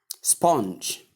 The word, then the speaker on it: sponge: This is another word that a lot of people make a mistake in, especially when they want to call out the consonant sound. J. Most people do call it sponge. Sponge. I don't know. I don't know where it came from. The ch sound. I don't know where we can get it from this word.